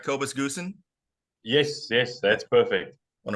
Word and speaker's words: Kobus Goosen: Kobus Goosen?